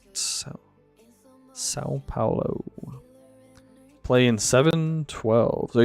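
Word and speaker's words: São Paulo: They lived in Sao Paulo, I believe is how you say it. Sao Paulo.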